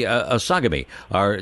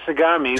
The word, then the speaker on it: Sagami: You and your colleague Tony Sagami am I pronouncing Tony's name right? We usually say Sagami, Tony but Sagami.